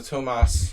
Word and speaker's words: Tomas: I should see him he's like not Hungarian but it's the European pronunciation so Tomas not stopping me for